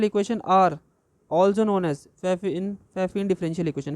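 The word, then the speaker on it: Pfaffian: Next आ जाइए, total differential equation are also known as फैफिन differential equation, P silent रहता है, फैफिन differential equation पढ़ते हैं, ठीक है।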